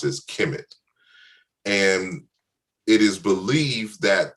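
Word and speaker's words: Kemet: the prominent names is the word which we pronounce is kimit and it is believed that the root of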